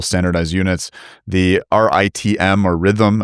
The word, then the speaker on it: RITM: But again from this perspective of uh building reactors in factories, building multiple standardized units, the RIITM or rhythm as I believe it's pronounced uh reactor program.